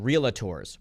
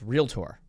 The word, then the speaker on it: realtor: Uh because that's not how you say it. It's realtor. It's not realator. there was no A in there.